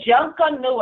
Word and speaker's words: Junkanoo: We pronounce it Junkanoo, and some of us sing it.